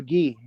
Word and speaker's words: Guy: do you pronounce it guy or ghee yeah there you go all the all the French people I know it's pronounced ghee and I can't believe